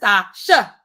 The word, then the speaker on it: Nastasha: Nastasha. That's how I say it, but I don't say it like that. If you ever see me in real life, guys, not so much emphasis on the last syllable.